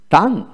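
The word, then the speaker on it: tongue: তারপর আসেন টাং টাং টি ইউ এন জি টাং ইউ ই উচ্চারিত হবে না টি এ এন জি টাং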